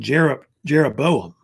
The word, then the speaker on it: Jeroboam: His name was King Jeroboam. It rhymes with Rehoboam.